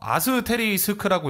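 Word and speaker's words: asterisk: 윈도우에서 모든 것을 뜻하는 이거 어떻게 읽어요? 그래. 아스테리스크라고 읽는다고 하네요.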